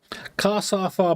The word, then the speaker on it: cassava: Cassava, but don't pronounce the R's. So cassava. Okay, there you go. But don't pronounce the R's. Cassava. Cassava. Right.